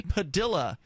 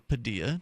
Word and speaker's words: Padilla: Jose Padilla is his name, or Padilla, depending on where you're from. Yeah, I said Padilla first, but for a long time.